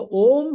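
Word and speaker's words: ॐ: a sound syllable and the OM has to be pronounced as pluta three Matas right so so the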